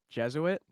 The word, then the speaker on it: Jesuit: you had problems pronouncing jesuit before the show even started yeah i i i kept seeing the word jesuit and i was like man that looks like jesui which is french and i i couldn't